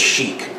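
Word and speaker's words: Chic: Is it Cheik or Sheik? But I think it's Sheik, C-H-I-C.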